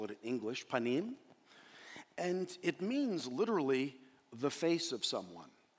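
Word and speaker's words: פנים: Now, the Hebrew word for presence is the word panim. P-A-N-I-Y-M is how you'd probably spell it in English, panim.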